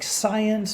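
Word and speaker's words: Zajonc: major social psychologist robert zions and it's kind of his name is pronounced like science but science so science found that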